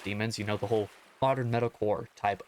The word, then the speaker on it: DMNS: on called Demons, but it's spelled DMNS, but you can tell it's supposed to be pronounced Demons, the whole modern metalcore type of thing.